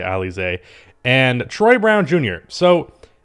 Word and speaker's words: Alize: i believe it's pronounced alize it looks like elise but i've heard everyone say ali zay and troy brown jr